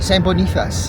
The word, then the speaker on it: Saint Boniface: Oui, Saint Boniface.